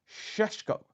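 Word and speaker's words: Šeško: Last season's injury issues meant Arsenal persuaded Mikel Arteta to relinquish his ambitions of signing Alexander Isak and perhaps even Benjamin Sesko, as it's pronounced.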